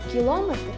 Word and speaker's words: кілометр: Наголошування іменників чоловічого роду. Ми чуємо, як говорять: кілометр і кілометр, хронометр і хронометр. А як буде правильно українською? Як правильно: кілометр чи кілометр? Кілометр.